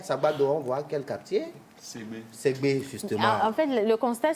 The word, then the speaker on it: Segbe: Alors, CB s'écrit comment? S, E, accent aigu, G, B, et E. Segbe.